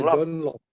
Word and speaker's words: John Locke: John Locke, dibacanya John Locke.